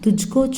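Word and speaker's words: तुझे: துஜ்கோ சாயே கியா? உன்னை. உன்னை அப்படின்னாலும் துஜ்கோ. உனக்கு அப்படின்னாலும் துஜ்கோ, உன்னை அப்படின்னாலும் துஜ்கோ. ஸோ உனக்கு துஜ்கோ, உன்னை துஜ்கோ. அடுத்தது உங்களை. துஜே. உங்களை. உங்களை அப்படின்னு சொல்லும்போது துஜே அப்படின்னு ப்ரொனவுன்ஸ் பண்ணணும்.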